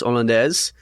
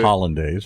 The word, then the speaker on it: hollandaise: You have sauce hollandaise, which is what I'd say hollandaise. Hollandaise, yes. American mispronunciation.